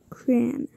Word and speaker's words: crayon: It's spelled C-R-A-Y-O-N. Cran.